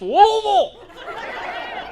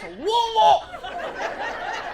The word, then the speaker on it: Louisville: at Muhammad Ali International, drove through Louisville, and they're like, it's pronounced Louisville! And it was an angry, it was not a polite, like, hey, why don't you try it this way, sir? It was an angry, it's Louisville! And I'm like, I am so sorry, Louisville.